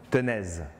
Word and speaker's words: tenez: Alors, en ancien français, quand on lançait la balle, on disait « tenez », T-E-N-E-Z. Sauf qu'en ancien français, le Z était prononcé. Donc, qu'est-ce que ça donne? Tenaise. Donc, on lançait la balle tenaise et par déclinaison, ça donnait tennis.